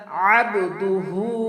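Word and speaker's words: عَبْدُهُ: আশহাদু আনা আনা মুহাম্মাদান আবদুহু ও রাসুলু এইযে এখানে আবদু আইনের এখানে আইন উচ্চারণ করব কখন খন হামজা করবো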